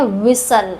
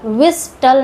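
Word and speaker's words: whistle: इसको पढ़ते हैं विसल। विस्टल नहीं पढ़ते।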